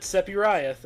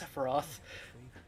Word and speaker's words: Sephiroth: He pronounces it Sephiroth, and I don't. It's Sephiroth. And I have to mention this because Love that this coat.